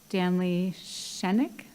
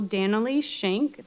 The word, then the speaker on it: Dannelly-Schenck: The first speaker slip I have is Danley Shenik. Sorry if I'm mispronouncing names. Thank you for taking the time to listen to me today. My name is Danelly Schenck. That's DANNELLY-SCHENCK. And I am a music